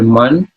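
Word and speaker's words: Mun: transformation although this monk acharya moon pronounced like acharya man he has that no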